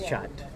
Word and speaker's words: kyat: It's Chat. Even though it's spelled Kyat, it's actually pronounced Chat.